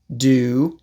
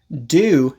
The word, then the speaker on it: do: Do, when it's not the main verb, is almost always pronounced d. So basically, do is only pronounced do when it is before an object or at the end of a question.